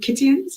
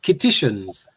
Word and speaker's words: Kittitians: But, and another intriguing thing, they said, that I read, it said people on St. Kitts are called Kittians. Is that correct? No, Kittitians.